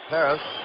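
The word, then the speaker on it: Pérez: zone his fastball sinks how do you pronounce Tony's name here at Cincinnati Marty - back on deck man Perez Perez I think Kubek is correct he says Paris I guess that's the Latin American pronunciation katas but canal said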